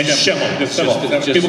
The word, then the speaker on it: Schemmel: And I'm just Schemmel. But I call him Schemmel. Everybody calls me Schemmel also. I call that my Stefan or name. That's like Laverne and Shirley. Schemmel, Schlemile.